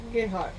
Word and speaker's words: Gerhard: Gerhard.